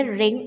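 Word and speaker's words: wring: हैं तो आप बोलेंगे रिंग आउट यहां पर व साइलेंट होगा तो आप बोलेंगे रिंग आउट रिंग आउट अगर बोलना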